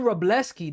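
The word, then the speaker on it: Wrobleski: Justin Robleski. That's how you pronounce his name.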